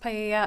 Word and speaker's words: paella: that was going to be used to cook paella. I'm not sure if that's how you pronounce it at the party. It's pronounced paella.